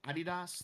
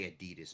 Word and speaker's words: Adidas: I mean, we say Adidas, but I think I think it's closer to Adidas. Oh, I did say it right.